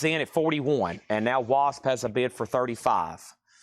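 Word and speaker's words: W.A.S.P.: Wasp.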